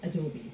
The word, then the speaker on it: Adobe: in addressing the company we like to call ourselves with an E towards the end it's Adobe that's the way we pronounce our organization now if I take